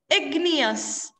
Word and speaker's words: igneous: Igneous. Like genius.